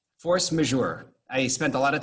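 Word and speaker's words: force majeure: called force major right i know i'm pronouncing it properly because i specifically went online and found a place where they gave you here's how you here's how you pronounce these words force measure i spent a lot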